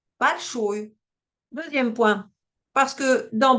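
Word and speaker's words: большое: Alors, premier point, cette règle n'est pas fausse, car ça marche bien avec des mots comme akno ou balshoe. Mais ce serait quand même mieux de préciser que cela ne marche que si le O est juste avant l'accent tonique.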